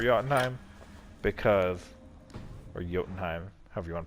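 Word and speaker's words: Jotunheim: in time because or yotenheim however you wanna pronounce it i think it's actually supposed to pronounce the with a short oh to be honest um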